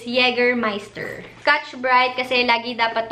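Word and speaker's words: Jägermeister: take one ka na ang pronunciation niya pala is yeger meister scotch bright kasi lagi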